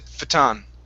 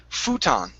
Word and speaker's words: futon: okay um next is the word uh futon now here this is a you where we do want to say that okay so here you went through that that you really quit you said fataan okay so this is futon there you go okay